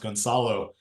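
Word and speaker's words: Gonçalo: And so my last name is actually pronounced Goncalo, because it's supposed to have the circumflex under the C, but I dropped it.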